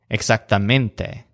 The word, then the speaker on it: exactamente: to English words but in each case the stress is on the syllable that sounds kind of like mint realmente exactamente on the statues face